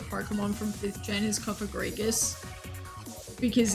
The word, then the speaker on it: Cofagrigus: sense or something like cofagrigus where because I'm not pronouncing it with the a I'm pronouncing it with an i I always forget that it's spell with an a like Dead s dude